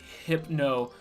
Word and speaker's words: Hypno: I got a little sad that people made fun of me on TikTok about how I pronounced hypno, because everyone was like, it's hypno, like hypnosis.